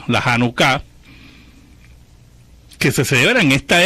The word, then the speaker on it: Janucá: pero la verdad que el acento está en la última sílaba la janucá que se celebra en